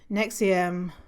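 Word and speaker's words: NXIVM: nexium next name is is spelt n x i v m november x-ray indigo victor mike and nexium oh you know what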